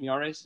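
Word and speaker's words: Miyares: uh jason nyares jason is that how you pronounce it miara's that's correct good job yes sir all right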